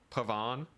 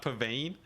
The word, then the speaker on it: Pavan: It's Pavan. It's pronounced Pavan, not Pavane this whole time.